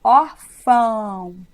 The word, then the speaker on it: órfão: Olha o que acontece com o meu movimento labial quando eu falo ão. Fica na mesma sílaba, ó. Órfão. E vamos lembrar que a semivogal é sempre o I e o U. E quando você fala órfão, você fecha a boca no final.